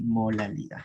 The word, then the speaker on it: molalidad: Lo va a decir así, molalidad. Igualito, igualito, así se escribe. Se parecen, lo único que la R por L.